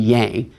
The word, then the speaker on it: yang: Sometimes Americans say yin and yang. Yin and yang sounds a little more Chinese.